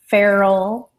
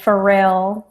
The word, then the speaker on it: Pharrell: founded by Al Gore Farrell okay Pharrell I'm sorry I said it wrong last Williams is a